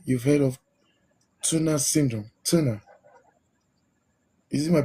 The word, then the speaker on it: Turner: Turner. Is it my pronunciation?